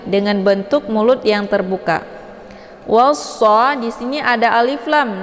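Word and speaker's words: وَالصَّلَاةِ: Cara bacanya wawnya dileburkan ke dalam huruf shad ataupun dimasukkan. Dan alif lam ini tidak lagi dibaca.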